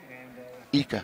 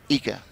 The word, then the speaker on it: Iker: Iker. The I've been corrected. His last name is pronounced Ika.